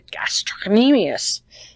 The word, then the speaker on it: gastrocnemius: And this one is the one that people have the most trouble saying, and this is our calf, and it is pronounced the gastrocnemius.